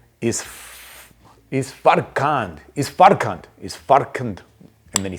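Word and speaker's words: Isfarkand: is far is far is far and then he says good at the end of it. The D is silent, hillbilly. So it's actually pronounced is faran.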